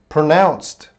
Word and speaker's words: pronounced: Pronounced. Pronounced. Hee-jung, yeah, I got confused too. Pronounced. Oh, Grace is here. Hello, Grace. Pronounced. Pro. We got one. Nouns. Nouns. The E doesn't make a sound, guys.